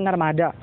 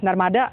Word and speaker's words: Narmada: Nama situs ini tuh disebut Taman Narmada. Tapi dalam pengucapan orang sini, biasanya akhiran A tuh dibaca jadi E, jadi Narmada gitu kan.